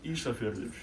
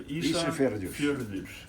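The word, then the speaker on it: Ísafjörður: So Isafjordur. So Isafjordur.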